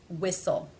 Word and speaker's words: whistle: vowel examples about fitness there are some words that are just written with a silent T for example Christmas whistle mortgage these unfortunately just need to be learned there is one case